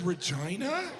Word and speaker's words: Regina: The capital is Regina. That's not necessary. Regina. They could have pronounced it Regina. They did that on purpose cuz they're perverts.